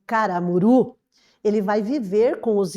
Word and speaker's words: Caramuru: Rita Durão, que escreveu Caramuru. Então eu trouxe ali para vocês a capa, perceba que caramuru recebi o acento tônico, né, ali na vogal U, na última sílaba, coisa que não existe